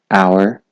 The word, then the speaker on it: hour: حالت دوه H is not pronounced in the following words. وان پیوت هنیدا H نهایتا خواندن. Why, where, while, when, what, whether, oh, vehicle, rhythm, hour, air.